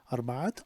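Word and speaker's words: أربعة: So arba'at, and again we pronounce in the ta, arba'at awlad.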